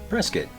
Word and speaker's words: Prescott: My favorite example in Arizona is Prescott, pronounced Pres-kitt.